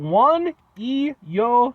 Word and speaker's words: Juan y Yo: a place called and I apologize for any mispronunciations on my part they are called one EO Taco Grill one j u a n space